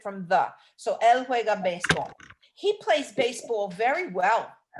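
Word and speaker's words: béisbol: he plays baseball and the word for baseball is baseball but it's spelled b-e-i-s-b-o-l how would you say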